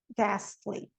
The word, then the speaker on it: ghastly: O H, ele não vai ser pronunciado na sequência GH. And in the word final position. Aqui, ó. Ghost, ghetto, aghast, ghastly.